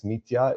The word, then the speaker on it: Mitja: So it's it's Mitia. It's easier if you replace Y uh uh instead of you know J and then uh it's it's a lot easier.